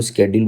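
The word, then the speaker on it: schedule: स्केड्यूल होता है ना, शेड्यूल बोलो स्केड्यूल बोलो, स्पेलिंग सेम होनी चाहिए बस। ठीक है, स्पेलिंग में गड़बड़ नहीं है, वैसे होता है स्केड्यूल है।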